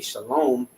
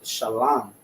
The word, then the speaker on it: shalom: tried to tell me shalom, and I said, nah, that's not the proper way to say shalom. It's shalom. There's no vowels in the ancient Hebrew, right?